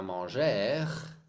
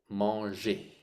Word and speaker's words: manger: dis la dernière fois tous les verbes er c'est pas travaillur c'est pas mangur a comment dit-on la la prononciation ici comment est-ce qu'on dit ça je h ça c'est et manger et manger travailler plantter